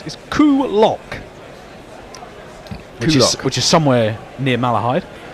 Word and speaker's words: Coolock: The place I was trying to pronounce is Coolock, which is somewhere near Malahide.